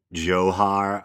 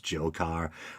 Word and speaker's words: Dzhokhar: the young brother um johar um initially people were pronouncing it as jokar or whatever his name